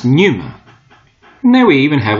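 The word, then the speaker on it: πνεῦμα: and here it is spirit in Greek pronounced Numa and there we even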